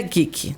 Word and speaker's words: geek: geek né então eu vou soletrar para que vocês pesquisem tá Vê se eu tô certa g e é isso fica isso né isso e se pronuncia geek tá bom E aí